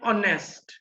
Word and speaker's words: honest: An honest. तो इसमें भी देखिए starts होता है H से, लेकिन sound है O.